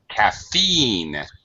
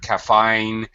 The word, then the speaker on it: caffeine: you need to be careful with the long e sound like okay caffeine I feel I count I count sheep okay sometimes it it comes through as a much shorter sound caffine fell ship it's it's e you know stretch your mouth your lips smile smile when you say e okay yes okay all